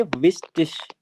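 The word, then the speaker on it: wichtig: इसी तरह से जब आई और जी साथ में आएंगे तो श का साउंड देंगे। ठीक है ना? श का साउंड दे देंगे। तो ये एक बहुत इंपॉर्टेंट वर्ड है। काफी ज्यादा मिस प्रोनाउंस हो जाता है। इसको बोलेंगे विस्टिश।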